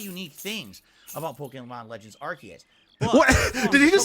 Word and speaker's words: Arceus: Arceus is the correct pronunciation, but a lot of people just don't give a shit.